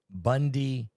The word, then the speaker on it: Bundibugyo: And you say it Bundibugyo is how you really pronounce it.